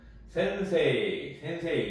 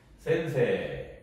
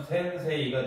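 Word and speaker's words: 先生: 그래서 센세이 이렇게 발음하지 않고요. 센세 여기 이제 장음처럼 발음이 됩니다. 장음처럼. 그래서 에 발음에 에를 집어넣는 게 사실 장음인데 이런 것들은 이제 에에 이가 들어가면서 장음 표시가 되어서 따로따로 읽으면 센세이가 되는데 읽을 때는 센세 이렇게 하셔야지 센세이 이렇게 하시면 안 돼요.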